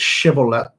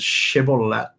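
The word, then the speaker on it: shibboleth: we can be correct I think the pronunciation of this word is shibolet or shibolet like that not shth as it's it would be written in English um I'm just looking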